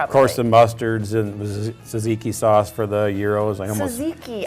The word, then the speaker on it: tzatziki: So the TZA, it's the silent T. Okay. silent T. Tzatziki. Tzatziki.